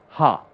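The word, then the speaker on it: ห้า: 5 be no okay in Thai the number 5 is spelt out or spoken out as ha H a so if there was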